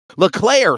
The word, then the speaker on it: Leclerc: Leclerc. So it's not. Okay, so it's not the C. You're not adding to the C. It is Leclerc.